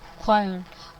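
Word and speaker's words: choir: नहीं है यह है खर के डब्ल्यू ए आईया पता नहीं अब यह आवाज आपको आ रही है या नहीं आ क्वाया क्वायर ठीक है क्वायर आर साइलेंट है इसका क्वायरल एनिमल्स में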